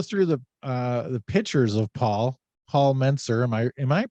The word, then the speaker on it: Mentzer: So if you go through the pictures of Paul Mentzer, am I pronouncing that right? Mentzer?